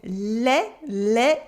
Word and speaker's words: les: In les, I and S make an E sound. The S is silent. Les.